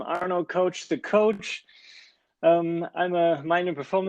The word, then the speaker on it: Arno Koch: Yes, you pronounced my name very right. I'm Arno Koch, the coach.